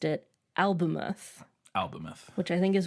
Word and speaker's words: Albemuth: And then in the movie trailer, Alanis Morissette's character pronounces it Albemuth. Which like moo, like a cow. Yeah, maybe the Canadian pronunciation. It's funny because that wasn't my other option. Mine was Albemuth or Albemuth. Yeah. And she didn't say muth, she said muth, which is different.